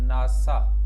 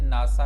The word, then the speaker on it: NASA: मसलन जिस तरह से एक लफ्ज़ है जी नासा, अब मैं इसे NASA नहीं कहता, मैं इसे क्या कहूँगा, मैं इसे नासा कह देता हूँ, NASA नहीं कहता।